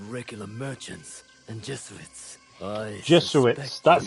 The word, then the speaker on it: Jesuits: I Jesuits.